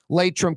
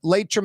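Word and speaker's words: Laitram: Latrim continues to grow.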